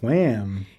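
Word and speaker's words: Wham!: we're talking about is wham yeah and you have to say it like that because they have an exclamation point at the end of the name is that when it's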